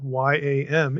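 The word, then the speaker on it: ים: After all, English yam, Y-A-M, is spelled the same as Hebrew Y-A-M. And I'll pronounce both the same way to make the point, exactly the same, yam, okay?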